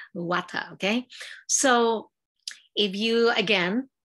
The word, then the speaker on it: Vata: That these is pronounced Vata, okay?